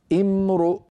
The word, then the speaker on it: امرؤ: إن امرؤ، لو وقفنا على إن وأردنا أن نبدأ، كيف نبدأ؟ نبدأ بهمزة مكسورة امرؤ. لماذا؟ لأن هذه الهمزة وهي همزة الوصل وقعت في اسم، والعرب تكسر همزة الوصل في الأسماء امرؤ.